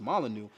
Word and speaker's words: Molyneux: I don't know if you spelled his name right because I believe it's pronounced Molyneux, but I like a lot of Stefan Molyneux's work, but then I also disagree with a lot of his shit.